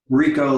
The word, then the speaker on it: Richo: i pronounce that correctly rico like puerto rico rico like puerto rico